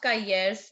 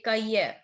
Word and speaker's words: cahiers: Very no, not Kayers, beta. Ce sont des cahiers.